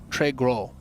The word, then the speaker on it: Très Gros: Très Gros. Oh. Yeah. Wow. Gross in French is just pronounced as gros.